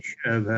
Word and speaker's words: sherbet: Just like the majority of Americans say sherbet. We say sherbet. We say sherbet, don't we? What? Yeah. There's only one R in there. Sherbet.